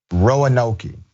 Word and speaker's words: Roanoke: By the way, for audio only viewers, the pronunciation is Roanoke.